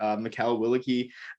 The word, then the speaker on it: Mikal Willeke: Sprint football player and a fellow BCM member, Mikal Willeke. Did I get the name right? I forgot. I should ask pronunciation beforehand.